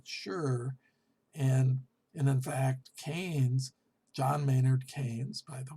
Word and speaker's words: Keynes: other words they're not sure and in fact cain's john maynard keynes by the way and uh i know a lot of people pronounce it genies which is ron keynes he really focused on